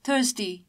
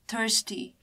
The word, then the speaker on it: thirsty: we can see that r is silent in british pronunciation and that's why we say thirsty in british pronunciation whereas in american pronunciation we can see r here hence we call it thirsty so phenomic transcription basically